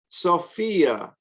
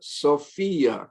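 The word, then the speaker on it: σοφία: Sophia, also alpha pure, ends in iota. We'll also pronounce with accent on the iota. Sophia, koinonia, cardia.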